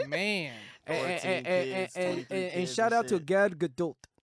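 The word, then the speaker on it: Gal Gadot: And shout out to Gad Gdult. That's how you pronounce her name.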